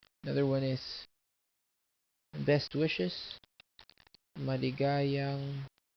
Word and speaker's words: maligayang: Another one is best wishes, maligayang bati. Or you can say this and there's a birthday, maligayang bati. Or best wishes, maligayang bati. Maligayang, maligayang, maligayang. The accent is here, maligayang.